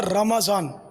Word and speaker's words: رمضان: اصل تلفظ اس کا رمضان، قرآن کریم میں رمضان میم پر زبر ہے. رمضان ہم لوگ بولتے ہیں اسے تو صحیح تلفظ بولیں قرآنی تو مدینہ مدینہ.